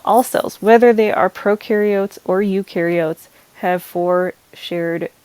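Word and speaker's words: prokaryotes: procar iots and ukar procaryotes has the pro that rhymes with no so there's no nucleus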